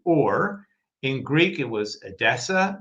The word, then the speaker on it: Ur: uh Hebrew tends to drop final short vowels. So it's simply or in Greek it was Adessa named that way by Seucid the Seus the first.